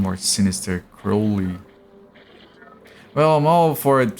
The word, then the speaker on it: Crowley: Crow as in the bird. Oh, I thought it was like Okay. Crowley.